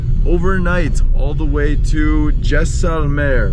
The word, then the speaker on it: Jaisalmer: We're going to be driving overnight all the way to Jaisalmer, right? That's how you say it? Yes. Jaisalmer.